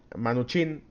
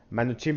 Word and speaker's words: Mnuchin: este señor Steven e manuin Ah manuin visto ya directamente cómo lo pronunciaba su apellido el señor Donald Trump